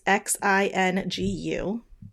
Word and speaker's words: Xingu: And so this one indigenous tribe in Brazil, and I'm sorry if I mispronounce this, but I think it's Xingu. It's Xingu.